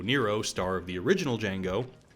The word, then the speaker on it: Django: This, by the way, is Franco Nero, star of the original Django. The D is silent.